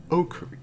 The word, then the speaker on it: Okarin: And so I also had derived Okarin. I know how to pronounce it.